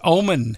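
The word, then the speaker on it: Oman: to be held at Tuesday March 21 at obon Arena am I pronouncing that somebody it's Omen Omen Omen all right Omen uh it's named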